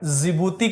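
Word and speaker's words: Djibouti: जिबूती country में, डिबूती में D silent है।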